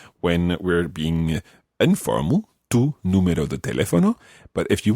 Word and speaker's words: número: There's an accent on the U. Yeah, because otherwise it would be Numero. Numero, which is wrong again.